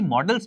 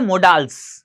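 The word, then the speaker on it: modals: कुछ लोग इसको बोलते हैं मोडाल्स, कुछ टीचर्स तक भी बोलते हैं इनफैक्ट, तो वो प्रोनाउंसिएशन करेक्ट नहीं है, उसको करेक्ट कर लीजिए, मॉडल्स बोलना चाहिए आपको।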